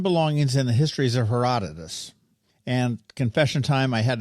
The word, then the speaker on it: Herodotus: lecture difference in belongings in the histories of Herodotus and confession time I had to Google that